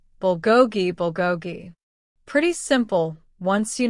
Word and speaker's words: bulgogi: It's pronounced bulgogi bulgogi.